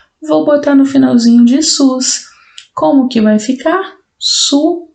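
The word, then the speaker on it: סוס: depois o Summer novamente então s o s pronúncia SUS cavalo em hebraico pronuncia-se SUS só que aí eu escrevi apenas a palavra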